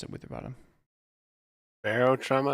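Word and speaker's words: Barotrauma: it with your bottom Barrel trauma is how I pronounce it okay but maybe that's wrong I don't know Ellis what did you say Barrow trauma that's correct um it's a like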